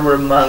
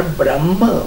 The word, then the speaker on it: ब्रह्म: तभी तो गुरु की महिमा है ना, ये गा रहे थे अभी, गुरु ब्रह्मा गुरु विष्णु गुरुदेव महेश्वरा। गुरु साक्षात पर ब्रह्म, ब्रह्मा नहीं, ये उच्चारण में ब्रह्मा बोलते हो, पर ब्रह्म, ये जो ब्रह्म